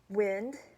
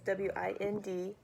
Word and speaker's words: wind: You have words such as wind, that's W-I-N-D, but also when you pronounce it, it could be wind.